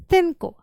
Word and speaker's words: cinco: I would like to mention here that in Spain, for example, people instead say cinco, 5, 6, 7. So they tend to pronounce S as th, like th, like the snake. They hiss, literally. But if you go to other South American countries, they just pronounce it as s.